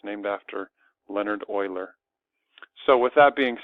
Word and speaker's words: Euler: you write his name doesn't look like you pronounce it Euler but it is and he basically discovered that